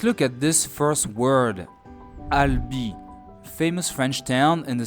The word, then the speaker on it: Albi: So, the letter A makes the sound A. Then the letter L. Al. Then we add B. That's Alb. And last we add the letter I, which always makes the sound E. And here we go. Al. Ali. Let me pronounce it once more. Albi.